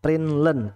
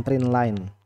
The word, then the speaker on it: println: Kalau pakai print learn ya, print learn LEN, cara bacanya print learn bukan print line.